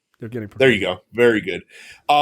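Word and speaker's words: Пригожин: name I'm not even going to try to pronounce, other than Evgeny is his first name. Prigozhin. Prigozhin.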